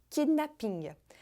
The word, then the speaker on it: kidnapping: Mais uma vez, a sílaba forte vai ser a sílaba final, kidnapping, com uma forte pronúncia do P, kidnapping, diferente de kidnapping em inglês. E mais uma vez também, os franceses capricham no som do G, kidnapping, sendo que em inglês ele praticamente desaparece.